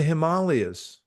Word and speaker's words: Himalayas: On that note, JM, I saw the Himalayas. You know, that's how you pronounce it, actually.